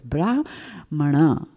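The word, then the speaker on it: Brāhmaṇa: and as you can see there is a bar on the a and there is a dot underneath the end so you know there are accents and there's a particular way in which you pronounce that word so it's bra mana right in sanskrit grammar now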